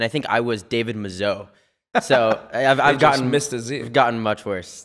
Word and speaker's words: Mazouz: We have on with us David Mazouz. Is that pronounced?